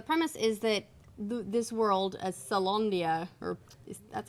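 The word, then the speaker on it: Caelondia: So the premise is that this world, Salondia, or that's how you pronounce it, right? Salondia. Salondia. Yeah. I always want to pronounce it Calondia because it got Yeah. a C on it.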